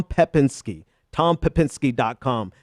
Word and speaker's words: Pepinsky: it was at TR Tom Tom Pinsky decom um I said that name so wrong it's Tom pepinsky Tom pepinsky domcom it's